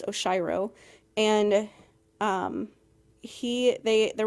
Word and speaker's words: Oshiro: I I read an article about how to pronounce his name. Um, it's Oshiro and um he they there was an article